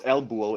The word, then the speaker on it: Elbuho: So it's Elbuho, Lbuho. It's like Buo, Yeah, Elbuho.